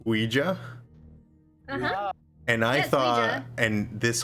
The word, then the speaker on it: Ouija: I learned for the first time that it's Ouija and I thought and this whole time I thought it was quija I thought it was the there was a